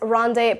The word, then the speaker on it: rendezvous: Now, it's a French word, so it's rendezvous.